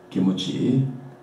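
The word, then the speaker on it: キムチ: Kimchi, you know, old kimchi, it's pronounced by Japanese kimuchi, with vowel u inserted.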